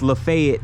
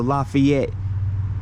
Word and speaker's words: LaFayette: the exact same way it's just that here in Georgia it's pronounced Lafayette as opposed to Lafayette as it is pronounced in Louisiana so I found that